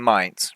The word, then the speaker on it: Mines: Well, Darwin, I'm pretty sure we got your name right this week, but it's last name Mines. Rhymes with pints, but with an M.